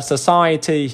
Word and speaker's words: society: Ừ, mình sẽ đọc là society. Đấy, society thì âm này là âm ơ hay gọi là âm swa nhá.